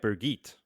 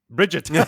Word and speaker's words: Birgitte: I've got like Birgit. That's how I always pronounced it. Bridget. I've gone more German with my pronunciation, and I've always pronounced it as Birgitte. Oh. Well, yeah, the chick with the bow. She's there too. Because you spell it the same as Brigitte, except you swap the I and the R around. Yes.